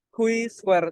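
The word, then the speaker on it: chi-square: Nah, uji yang paling umum dilakukan adalah Q-square test. Nah, mesti teman-teman bertanya nih, kok bacanya Q? Nah, memang di buku memang bacanya Q. Padahal C-square test ya, tapi bacanya di buku memang Q, seperti itu.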